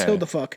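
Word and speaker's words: Huldufólk: It's the Hildefolk, but how they pronounce it in Iceland is Hildefuck. But we're not pronouncing The Hildefolk are Icelandic fairies that are somewhat neutral.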